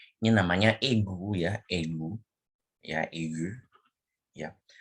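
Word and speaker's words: aigu: Nah, ini bacanya itu e ya, bukan e, tapi e. Ini namanya egu ya, egu.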